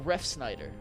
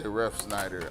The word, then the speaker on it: Refsnyder: listen he's gonna say ref Schneider I here's the thing I have never heard of ref Schneider and I've never seen this spelled that way it's like a ref and then Snyder's potato chips I don't know but